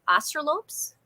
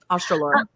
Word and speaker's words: Australorp: But I have one of my favorite chickens to raise are the black, I think you pronounce it Australopes. Mm-hmm. Australorp.